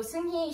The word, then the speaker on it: Seunghee: So Seunghee, she's another Korean woman, so that's why I say her name that way. It's the correct Korean pronunciation.